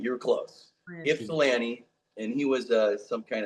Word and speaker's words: Ypsilanti: Pronounced Ipsalanti. You were close. Ipsalanti.